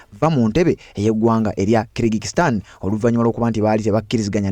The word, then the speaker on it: Kyrgyzstan: Eggwanga eryo mulimanyi pronunciation yaalyo Senyango balita Kyrgyzstan era nga yali alikulembera bamuyita Askari Akayev.